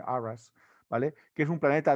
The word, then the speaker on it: Urras: Uno de ellos se supone que es el viejo mundo, Anares, y otro que se llama Urras, se escribe, en inglés se pronuncia seguramente Arras, ¿vale?